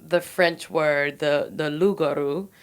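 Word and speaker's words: loup-garou: You don't pronounce a consonant at the end of a word unless it's followed by an E.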